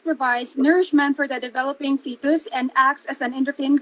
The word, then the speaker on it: fetus: a so again the uterus nourishes the developing fetus prior to birth so the uterus as a